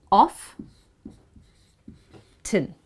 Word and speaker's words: often: Now British pronounce this word as off. An. Often. However, Americans, they stress on the T here and they pronounce this word as off. Tin. Not ten, but tin. So you can say, yes, it's not often, it's often.